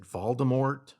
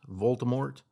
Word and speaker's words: Voldemort: ranked and is it voldemort voldemort the t is silent baltimore voldemort he's french he was